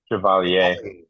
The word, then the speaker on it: Chevalier: Probably did not I think pronounce that. it's Chevalier.